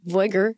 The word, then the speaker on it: Veuger: going to be inviting Stan Veuger, or Veuger in the American pronunciation.